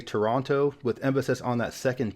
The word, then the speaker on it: Toronto: Americans including myself say Toronto with emphasis on that second tee but I think most Canadians dropped that second T sound and say Toronto and after too long